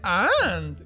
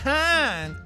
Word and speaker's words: hand: Se dice and. Más o menos. No se dice and, se dice hand. Te faltó pronunciar la H.